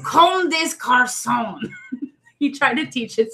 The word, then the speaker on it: Comme des Garçons: And I might be saying it wrong, too, but I'm pretty sure that's how you say it, because there's no accent mark over the E, so.